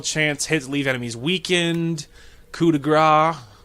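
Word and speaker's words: coup de grâce: his leave enemies weakened coup de gras coup de gras I think it's actually Coupe de grace I don't think is how you're supposed to pronounce that you deal more damage with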